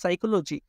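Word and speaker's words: psychology: তারপর যেটা বললাম পিএস, তার মানে সাইকোলজি, পি তারপরে এস ওয়াই, এখানে পিটা কি থাকবে, সাইলেন্ট থাকবে। আবার 2 নম্বরটা টিএস যদি থাকে, মানে সুনামি, টিএস, মানে টিটা কি থাকবে, সাইলেন্ট থাকবে।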